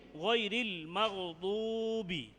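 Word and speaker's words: غير المغضوب: দদ উচ্চারণ জিহ্বার গোড়া থেকে মোটা করে আদায় করতে হবে।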